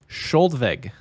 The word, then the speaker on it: Skjoldvegg: The name we're about to say is Skoldveg. Skoldveg. Skoldveg? Skoldveg. It's spelled, Skoldveg?